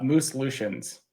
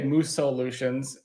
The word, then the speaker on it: Mooselutions: proper one I I I believe the proper pronunciation pronunciation is uh moose lutions okay so I know a lot of people say moose Solutions and like one of